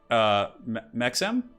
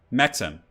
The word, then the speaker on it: Mexem: By the way, Turin, my name is pronounced Mexem? Sorry, just has been bothering me. Okay, let me try and figure this out. He says it's Mexem. Okay, so the E is like a silent E or something?